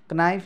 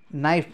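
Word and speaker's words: knife: केएनआइएफई भनेपछि क्नाइफ होइन नाइफ भन्नु पऱ्यो।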